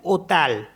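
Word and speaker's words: hôtel: पास एच ओटी एल इसमें भी H silent होता है एच को हम पढ़ते नहीं है तो यहां से पढ़ेंगे हम ओ टी ई एल को पढ़ते हैं ओटेल ओटेल होटेल तो एच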